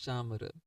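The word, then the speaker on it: चामर: Cham if you see it is written in English it seems like camera but the correct way of pronouncing is chamar so chamar is made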